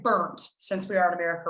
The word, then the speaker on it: Berndt: If you were in Germany, you would say probably close to what you said, but in America, we'll just say burnt, like burnt toast.